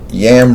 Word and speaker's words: Yam: Yam rhymes with ham.